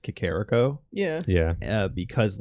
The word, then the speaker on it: Kakariko: Oh, The funny that's- thing was we weren't actually like misspelling Kakariko, but we were putting the emphasis wrong. Kakariko. And even once the internet was a thing, people still mostly pronounced it Kakariko Yeah.